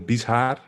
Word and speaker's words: Bieshaar: it's uh yeah it's hard to pronounce it's uh bishar i cannot pronounce it otherwise but i think if